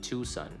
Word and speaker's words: Tucson: Common popular pronunciation, prevailing local pronunciation, Tucson. Tucson, right?